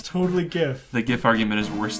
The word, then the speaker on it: GIF: let's try another attempt the guy who invented it says Jeff see I think that is I think that is the the correct way to say it he ter he should die because he says GIF wrong he was really smart